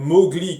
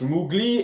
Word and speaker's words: Mowgli: sais pas les prononcer comme mowgli que je prononce l'oubli et faye veulent que